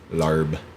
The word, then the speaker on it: larb: It's weird because they spell it weird. It's like they spell it differently in English phonetically. So they spell it there LAAP. Okay. Lop. It's spelled Lob larb guy. here. Yeah, instead of lob. Same word.